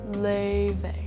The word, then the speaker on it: Laufey: LAUFEY.